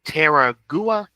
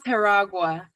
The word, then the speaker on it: Teragua: Um, artistic vision and Terraua. It's okay. It's It's pronounced Teragua. Teragua.